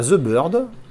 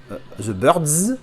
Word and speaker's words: The Birds: La tranchouille, on a The Bird, The Birds, pardon, puisqu'il faut prononcer le S, et l'affiche originale, si ma mémoire est bonne, hein, si c'est bien l'affiche originale.